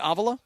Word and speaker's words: Avila: media day and he said this is Avala. Okay. So you pronounce it.